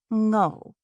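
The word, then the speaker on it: Ngo: say her last name, which was pronounced literally how it was spelled, like I-N-G-O, without the I. Ngho.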